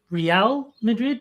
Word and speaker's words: Real Madrid: Uh, real I'm guessing is a reference to you suddenly supporting the Madrid soccer team as uh you would not know that it's pronounced Real Madrid, but I respect the effort.